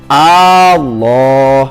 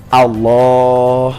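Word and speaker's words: الله: Allah dalam takbiratul ihramnya, tapi memanjangkan hamzahnya lafaz Allah. Jadi kembali tidak boleh membacanya Allah, tapi harus Allah.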